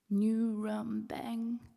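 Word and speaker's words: ngurambang: can you hear it new rum bang if you say it right it hits the back of your mouth and you should taste blood in your words every person around should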